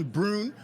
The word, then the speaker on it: Brun: carpet here with Christian Brun uh for those don't know it rhymes with prune it rhymes with prune yeah it's like broom but with an N at an N yeah